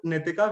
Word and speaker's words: Nitika: And I can see that is also Nitika when someone pronounces her name incorrectly or spells her name incorrectly, like Nikita or Nitvedita, someone said.